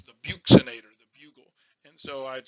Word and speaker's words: buccinator: the best thing to teach people but i mispronounced this as the bugulator and i could remember it's the buxinator the bugle and so i'd say when dizzy